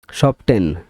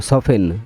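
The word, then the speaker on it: soften: সাইলে almond মানে বাদাম সফটেন মানে নরম সফেন এখানে আমরা বলি সফটেন আসলে উচ্চারণটা হবে সফেন সফেন এখানে এলটা সফেন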